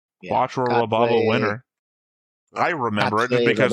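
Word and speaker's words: Quatre Raberba Winner: That's how they say it in the English dub, anyway.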